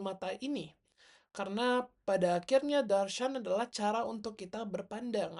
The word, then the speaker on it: darśana: Jadi dia itu bukan darsana tetapi adalah sebenarnya darsena atau darshan.